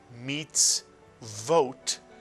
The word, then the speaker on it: mitzvot: And we've shown you this word, where the vav has a cholam over it to be pronounced vo, as in this word, mitzvot, commandments.